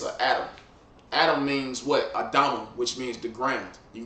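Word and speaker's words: אדמה: look up the word Adam and it say red, which that's not true. It means the ground, literally. Yep, Adama. That's how you say it in the Hebrew.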